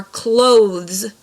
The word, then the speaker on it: clothes: So like the shirt and the jeans that you wear are clothes. So you need to make sure you're pronouncing the TH in that, clothes, versus their clothes, like a door closes.